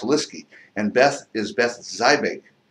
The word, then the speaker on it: Lieseke: spelled l i s e ke but it's pronounced lisky and Beth is Beth Zig now that name